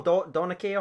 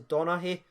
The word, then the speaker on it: Donaghy: He's always getting involved in the polls, and I butchered it. I call him Donaghy or something like that, but his name's actually Donaghy.